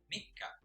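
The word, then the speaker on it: みっか: Third day of the month is Mikka. Mikka. Fourth day is Yokka. Yokka. So, mapapansin nyo yung double K or K at saka K ng Mikka at saka Yokka. Nilalagyan natin ng stress sa pagbigkas.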